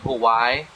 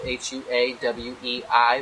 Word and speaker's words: Huawei: that the other day I was always saying cool why cuz that's the way it looks the way it's spelled hua w/e I which is actually pronounced a huawei so let's